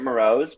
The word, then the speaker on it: Mroz: name correctly uh it's we actually pronounce it marose but maybe you are right like that's just how I've been growing up with marose but who knows exactly